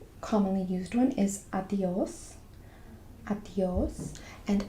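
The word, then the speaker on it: adiós: Adios. And adios has an accent as well on the stress it a little bit.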